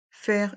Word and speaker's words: faire: Faire une radio, se faire opérer. Faire une radio, se faire opérer. Dans le mot faire, il y a le son est avec les voyelles A et I.